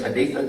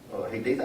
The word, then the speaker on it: Haditha: I know how to pronounce that because I've been there. The famous Haditha Dam. Yeah. Haditha, Iraq.